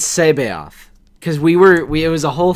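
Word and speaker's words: C'baoth: It's Sabaoth.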